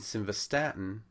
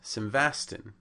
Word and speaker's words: simvastatin: becomes meow prolol and simvastatin becomes sasan so I found these